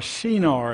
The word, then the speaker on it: Shinar: the land of Shinar are Shinar is way it would be pronounced so we're talking about